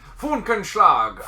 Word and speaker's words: Funkenschlag: Funkenschlag auf Deutsch.